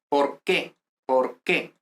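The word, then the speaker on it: por qué: because here we say por que por que so this doesn't have any accent i mean like any um pronunciation intonation accent no the accent goes here in the next word okay so there's those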